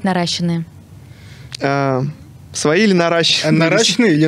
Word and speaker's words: наращенные: Правильно говорить, наращенные. Свои или наращенные? Наращенные или нарощенные?